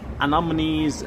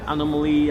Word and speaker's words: anemones: sea stars and these anemones anomaly anomaly I don't know how to spell it. Anemones, that's how you say it.